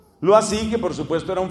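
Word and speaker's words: Loisy: o iese y y se pronuncia algo así lo así que por supuesto era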